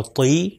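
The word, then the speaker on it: طِ: ہے طا اور ضا۔ اب ان کے نیچے اگر زیر آ جائے تو اس کا تلفظ ہوگا طی، اور زوئیں کے نیچے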